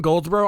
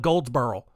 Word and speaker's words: Goldsboro: because like I'm from Goldsboro I've heard people call it Goldsboro like no there's no R in that fix your mouth anyway that's my soap